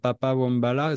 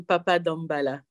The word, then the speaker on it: Papa Dambala: Et c'est Toto Vicente que tu as choisi de nous faire écouter avec ce titre Papa Wombala, si je le prononce bien. C'est Toto Vicente et Papa Dambala.